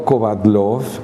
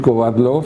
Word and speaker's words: Kovadloff: apellido que son infinitas del único lugar donde yo logré que mi apellido en latinoamérica fuera bien pronunciado es en méxico porque creo que el náhuatl es una lengua donde las consonantes abundan tanto que decir kovadloff fue muy sencilla según dicen en ucrania